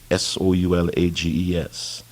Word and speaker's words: Solages: He sounded as if trying to say "so large," but squeezing the G and E sound up against his palate with his tongue, at the last moment dropping the S.